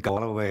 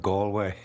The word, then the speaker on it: Galway: He got my name wrong. He said Galway instead of Galway.